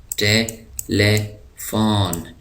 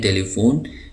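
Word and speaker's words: telephone: ٹیلیفون، ٹیلیفون ٹیلیفون ہم اس کو اردو میں کہتے ہیں ٹیلی فون، لیکن انگلش میں اس کا صحیح تلفظ ہے ٹیلیفون.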